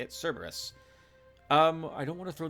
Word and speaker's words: Cerberus: That's how you say it, Cerberus.